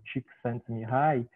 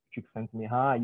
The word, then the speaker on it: Csikszentmihalyi: pelo menos para o nosso contexto, né, se pronuncia então algo como Csikszentmihalyi.